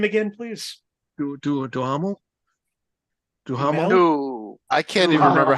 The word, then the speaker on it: Duhamel: Can you pronounce that last name again, please? Duhamel?